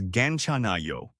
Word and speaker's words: 괜찮아요: The fifth expression we'll learn is 괜찮아요. this means it's okay or I'm fine in Korean. The pronunciation is 괜찮아요.